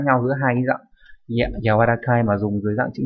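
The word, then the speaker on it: 柔らかい: Âm khương yomi giống hệt như chữ nhu ở trên, đọc là yawarakana hoặc là gì nhỉ, yawarakai đúng nhỉ, nghĩa là mềm xốp.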